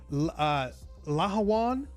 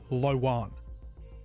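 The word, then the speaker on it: Lh'owon: I've been told to pronounce this uh Laawan with the H actually pronounced. I've heard others just say Lan.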